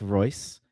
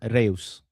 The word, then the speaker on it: Reus: By the way, for the record, that was that is not pronounced Royce. He is from Reus.